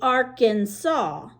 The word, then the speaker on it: Arkansas: end of the hammer there's a river that when it's in Arkansas you say it like that the arkan saw River I believe we have that running right through Tulsa yep the Arkansas River but